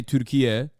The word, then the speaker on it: Türkiye: the Turkish state broadcaster trying to say Türkiye, which is like the new naming convention for Turkey, which is like the actual is how you say Turkish, Turkey in Turkish.